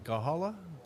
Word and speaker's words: Gahanna: Was it Gahala? Or how do you pronounce Gahanna. it? Gahanna.